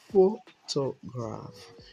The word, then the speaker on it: photograph: Now, in the word photograph, on which syllables is the primary stress? The photograph, photograph. So, the energy comes from pho. So we now began to relax to graph. So our answer here is pho.